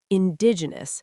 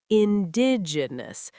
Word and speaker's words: indigenous: Indigenous, stress on the second syllable. Indigenous. Many students say indigenous, slow it down.